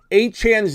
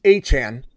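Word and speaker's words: Achane: I call him Saul now you're telling me anan's name is aan he came out and and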